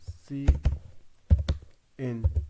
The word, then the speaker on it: cin: लिए स्टैंड होता है फिर इसको हम से इन प्रोनाउंस कर लेते हैं सी इन य इस तरह प्रोनाउंस होता है इसके अलावा यह